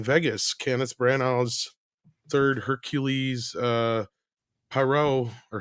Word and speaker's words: Poirot: But evidently, they're not releasing A Haunting in Vegas, Kenneth Branagh's third Hercules Poirot, or how do you say it? Poirot. Yeah, Poirot.